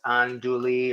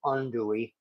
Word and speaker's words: andouille: for it I once I think I initially would pronounce it as anduli or something like that instead of undouy foreign all we really